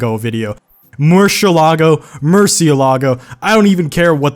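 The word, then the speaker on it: Murciélago: video more shelah go Murcielago i don't even care what the cars pronounced like apparently it's more Cielo go as their original pronunciation but everyone that says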